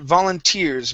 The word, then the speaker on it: volunteers: All right, let's go to the word volunteers. Make sure to pronounce this S here at the end. Volunteers. Volunteers. Okay, all right, now we got the S.